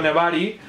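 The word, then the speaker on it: nebari: japonés Sí en japonés si yo digo nevari se escribe n e b a r y latín nevari Y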